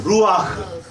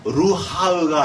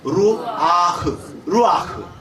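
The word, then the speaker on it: רוח: 루아흐. 그러니까 루하흐가 아니고 루아흐.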